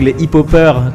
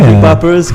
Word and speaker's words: hip-hoppers: So we were like a few like the hip-hop gang, les hip-hoppers, comme on dit. Oh, c'est français, s'il vous plaît. Les hip-hoppers, kind of. Les hip-hoppers. Les hip-hoppers. The H is silent.